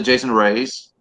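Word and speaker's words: Raize: I'm not sure how to pronounce his last name. Is it Jason Reyes?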